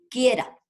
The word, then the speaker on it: quiera: Esta tiene acento prosódico, quiera, acento prosódico. Y al yo pronunciarla digo, quiera, no separé. Entonces, kie, una sílaba, ra, la otra sílaba. Tiene 2 sílabas.